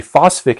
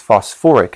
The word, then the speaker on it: phosphoric: You might think it would be phosphic acid, but someone at some point, I suppose, decided that that would sound funny, so they put put that extra syllable on there, the or, so it's phosphoric acid.